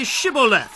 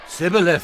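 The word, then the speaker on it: Shibboleth: If he said no, then they would say to him, "Then say Shibu." And he would say, "Chib," for he could not pronounce it right.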